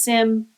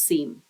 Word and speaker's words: SIEM: We have so many acronyms and I've heard this pronounced SIM as well as SEAM. I call it a SIM.